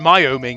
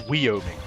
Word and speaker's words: Wyoming: It isn't Wyoming, it's Wyoming.